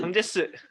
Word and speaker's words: 장제스: 그 국민당 장개석이라는 그 어쨌든 장제스. 그렇죠. 장제스죠. 아주 잘 아시군요. 그러니까 중국말로 하면 장제스고 한국 발음으로 하면 장개석이에요.